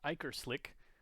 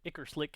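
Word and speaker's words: Ichor Slick: This next card is probably pronounced Iker Slick, but I have always pronounced it icer Slick and it's so much more fun to say.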